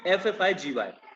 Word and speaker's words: effigy: Spelling है EFFIGY, मतलब जी 2 बार नहीं आएगा, F 2 बार आएगा, EFFIGY।